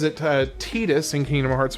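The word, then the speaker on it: Tidus: that I know it's officially pronounced Tetus, and I'm okay with being wrong. I think for the English language, Titus is much more is more fitting because of the water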